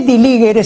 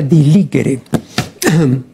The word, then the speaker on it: diligere: Ahora, la castellanización de diligere, este diligere se pronuncia así, ¿no?, como si fuera la G de guerra, ¿no?, pero es la